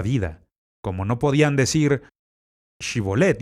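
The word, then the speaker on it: Shibboleth: Como no podían decir Shibolet y en lugar de eso decían Sibolet, como no podían pronunciar correctamente, los mataron.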